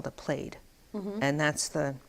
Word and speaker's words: plaid: it's a call to played and that's that's the Scottish pronunciation for that thing and what you wear